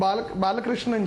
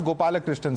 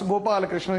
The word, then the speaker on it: Gopalakrishnan: Balakrishnan ji. My name is Gopalakrishnan, sir. Let me clarify that at the outset so that you don't repeat my name wrong again and again. Gopalakrishnan, yes.